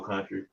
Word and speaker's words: Kuntry: don't know me my name is country uh it's spelled and it's bill k-u-n-t-r-y i